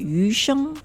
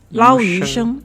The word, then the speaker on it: yu sheng: So how do we pronounce this one? Lo hei, which is the Cantonese version. In Chinese, in Mandarin, we call it yu sheng. Lao yu sheng.